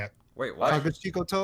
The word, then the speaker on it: Kakushigoto: Kakushikoto. Name of the anime. Kakushikoto? Kakushigoto.